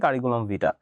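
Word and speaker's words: curriculum vitae: এখানে ভিটার ই যে এটা হচ্ছে ই সাউন্ডটা হচ্ছে হিডেন, কিন্তু লেখার সময় ই থাকবে, ঠিক আছে। কারিকুলাম ভিটা, এটার প্রোনাউন্সিয়েশন হবে কারিকুলাম ভিটা।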